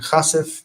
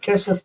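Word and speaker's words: כסף: 𝗥𝗚𝗦𝗘𝗥𝗡, and chasif instead of kesef because it's in pause.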